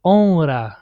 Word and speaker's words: honra: So here, why do we pronounce multiple R sound? Even though it's one R and it's the first letter of the second syllable, should be pronounced like honra, yeah, honra. But the reason why here we pronounce it multiple is because there is an N before that R. So we have to say honra.